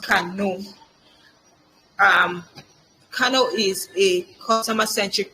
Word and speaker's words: Kano: So it says here it is pronounced Kano.